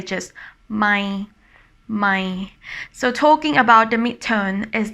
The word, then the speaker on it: ใหม่: And talking about the tone, this tone is dropping down when you pronounce it, my. So I always say that it sounds like a disappointing tone.